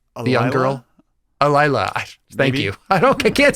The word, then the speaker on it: Alyla: Alyla.